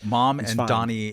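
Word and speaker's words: Mamdani: mom and Donnie Hathaway. I think of Donnie Osman, but you can be That's good.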